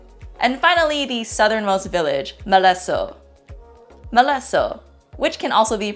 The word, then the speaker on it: Malesso': And finally, the southernmost village, Maleso. Maleso, which can also be pronounced as Maritzo.